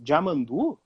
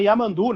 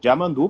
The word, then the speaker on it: Yamandu: Mas eu me lembro que em 96, Jamandu, que hoje o pessoal chama Yamandu, né? E ele sempre corrige, que é Jamandu, porque é, né?